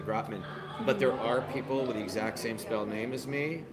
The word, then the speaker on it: Gropman: Hi, this is Dad Mom Jokes, and I'm here with Adam Gropman.